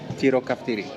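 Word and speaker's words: τυροκαυτερή: Can you pronounce this one for me? Tiro kaftiri. Yeah. Tiro. Tiro kaftiri. Tiri is cheese. Kaftiro is spicy. So tiro kaftiri.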